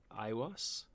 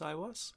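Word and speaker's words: Aiwass: ancient egyptian deity called ios a-i-w-a-s-s i think it's pronounced i was i'm gonna call it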